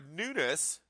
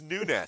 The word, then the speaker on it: Nunes: Latin dude he's Portuguese it's Nunes still Nunes no it's Nunes it's pronounced different because it's Portuguese H okay I may